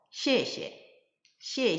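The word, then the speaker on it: 谢谢: 자세히 이해할 수 있을 거에요 자 그래서 경성 발음으로 씨에 씨에 시에 라고 인사를 하면 감사합니다 고맙습니다 라는 표현이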